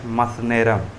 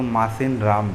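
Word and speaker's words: Mawsynram: पहले चेरापूंजी था, अब है मसनेरम, जिसको हम लोग मासिन राम बोलते हैं। एक्चुअली में उसका प्रोनाउंसिएशन मसनेरम है।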